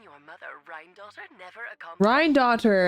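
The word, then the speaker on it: Rhinedottir: Rhine-daughter, that's how you say it.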